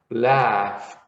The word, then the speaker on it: laughed: Even though it has a GH, you see here, it has GH, but the GH in English here, in this case, is pronounced as an F.